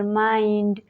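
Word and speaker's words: mind: उच्चारण नहीं होता है रूल नंबर एट है जब आई के बाद एन डी या एल डी आए तो तब भी आई को आई से पढ़ते हैं for example माइंड फाइंड बाइंडेड में देख सकते हैं आई के बाद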